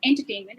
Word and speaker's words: entertainment: So if I emphasize more on entertainment and not entertainment or any other way, the pronunciation changes.